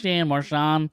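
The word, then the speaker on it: Marchand: he's Canadian yes um there's D also at the end of it that just you just don't pronounce it it's Mar silent yeah um yeah no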